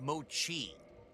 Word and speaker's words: mochi: can I wield it's okay I can it's pronounced Mochi thank you I never knew that Mochi okay